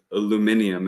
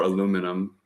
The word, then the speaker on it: aluminium: different particulate sized Nano particulate aluminium as you all say it or aluminum anybody over here I'm